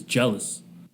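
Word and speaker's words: Gelos: if that makes sense i looked up the uh pronunciation of the greek god of laughter oh it says sounds like it says jealous all right fair enough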